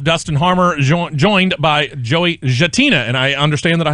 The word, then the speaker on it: Gattina: that no that's good gentina it's italian so the g more is like a j i guess you'd say all right well very